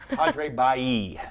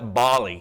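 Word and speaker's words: Padre Balli: The first question is, Scott, how do you pronounce the name of the park near Bob Hall Pier? Padre Bailly. Exactly. Okay. I know everybody wants to call it Bali. It reminds me of the Bali exercise equipment.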